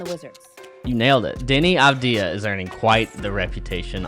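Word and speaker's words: Deni Avdija: i am going to need your help with pronouncing denny abdia and the wizards you nailed it denny abdia is earning quite the reputation on the defensive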